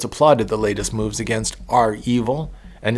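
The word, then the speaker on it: REvil: I think that's pronounced R-Evil.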